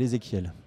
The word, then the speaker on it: Ezéchiel: d'orthographe aussi parce que ça se prononce ezéchiel mais ça s'écrit ch donc déjà première raison j'ai